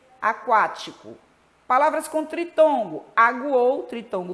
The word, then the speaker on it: Aquático: Aquático, o U é pronunciado.